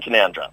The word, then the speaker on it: Canowindra: Factory and can canowindra is how you might pronounce kandra if you didn't know better well I've lived in kandra strangely enough you call that living yeah great